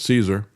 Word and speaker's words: CSAR: Well the um combat search and rescue team CSAR they pronounce that as Caesar.